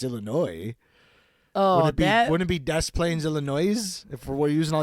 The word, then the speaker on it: Des Plaines: Well, because you don't say the S in Illinois. So No. like, why would I say the S in Des Plaines? It's Des Plaines.